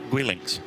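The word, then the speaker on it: Guelinckx: How do we pronounce that? Gwillinx? Gwillinx.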